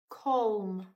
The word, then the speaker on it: comb: Comb. No, that that sounds right, Miss Rogers. It's B. The silent letter in comb is B.